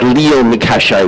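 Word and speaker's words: Lion-Cachet: He's going to be bowling to Zach Leon Cachet, we're now being told is the pronunciation.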